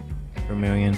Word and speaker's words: vermilion: it just remind it it rhymes with um chameleon so vermilion camellia and here is the